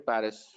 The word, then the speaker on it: Paris: I live in Paris. Je Okay. habite à Paris. Okay. Paris is Mm-hmm. Paris. I don't pronounce the Mm-hmm. S.